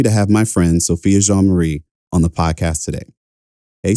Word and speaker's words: Jean-Marie: So Sophia Jean-Marie, most of the time growing up, I pronounced it Jean Marie. I think actually to this day, I still pronounce it Jean Marie. I just think of the time period, it was just easier to pronounce it in the sort of Americanized version of it.